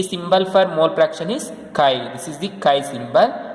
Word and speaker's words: chi: It is represented like, it's called chi. It is pronounced as chi.